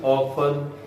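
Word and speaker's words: often: Simple ऑफन ऑफ्टन और ऑफ्टन both are correct pronunciations.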